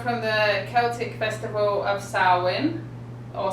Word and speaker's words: Samhain: the celtic festival of saurwin or samhain is how it's spelled but it said sarwin so it comes from